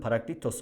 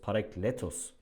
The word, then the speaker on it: parakletos: İnsanların parakletos olarak telaffuzunu duydum ama doğrusu parakletos olacaktır.